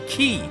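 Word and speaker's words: χ: Well, the X symbol according to the game is pronounced Kai, or Key, so it's known as the Keyblade.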